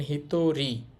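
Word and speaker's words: 一人: এটা হচ্ছে মানুষের কাঞ্জি উচ্চারণ হবে দেখেন হিতরী হিতরী একজন তাহলে এখানে উচ্চারণ কিন্তু হিত হচ্ছে হিতরী একজন শুরুতে ছিল হিতৎসু একটি তরি একজন জন মানেই তো মানুষ বা মানুষজনকে বুঝায়।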